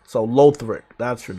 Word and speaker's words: Lothric: wrong i know uh it's low low thrick lothric like uh low threak knight in dark souls 3 i did not play dark souls 3 so lothric that's your name okay